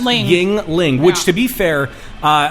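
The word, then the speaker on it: Yuengling: oh yeah that's the next line um Yingling pronounced Yingling which to be fair uh a friend of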